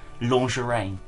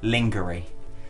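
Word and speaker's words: lingerie: adult boys brand clothing oh God lingerine or as I used to pronounce it lingery you got some lingery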